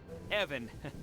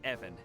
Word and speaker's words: Evan: ask one more question Evon it's it's pronounced Evan short guttural I wanted to ask